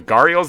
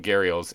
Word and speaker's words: gharial: make an exhibit for what i call the guardiols they're pronounced gharials apparently according to some random place i found on the internet uh so i'm